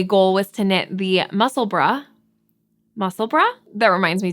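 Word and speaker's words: Musselburgh: so many different ways the way that it's spelled you could say muscle Berg muscle burrow muscle bur um and I had a German friend friend on here let me know that it is pronounced muscle bra so I will be doing my best to say muscle bra and I always appreciate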